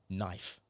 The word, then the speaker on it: knife: Knife.